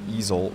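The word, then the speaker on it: Ezell: In this case, the Supreme Court ruling appears to basically go towards the EZL, the E-Z-E-L-L, for those of you on your lawnmowers, alternatively pronounced, the EZL ruling, that we've basically mentioned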